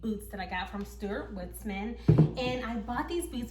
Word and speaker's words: Stuart Weitzman: Hi guys, it's Editing Sha-Phawn from the future, and I mispronounced the name of this brand incorrectly. It's Stuart Weitzman, not Stuart Weitzman.